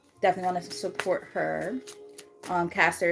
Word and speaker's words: Castor: Caster is spelled Castor and then River.